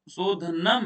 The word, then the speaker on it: शोधनं: और जो अनुस्वार आता है ना उसमें म का उच्चारण हम लोग करते हैं ना, तो जी सर। शोधनम है, दृढ़ता चैव स्थैर्यम, जी।